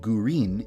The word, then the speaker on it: Gurin: Midori is the Japanese word for green, and gurin is the Japanese pronunciation of the English word green, so I decided to name her Midori Gurin.